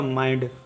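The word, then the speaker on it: mind: एन डी आधा न उच्चारण करेंगे और डी का उच्चारण पूरा करेंगे तो ये हो जाएगा माइंड।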